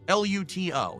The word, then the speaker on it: Luto: L U T O. Why does he say such a hard T? Well, because then people know it's a T and not a D.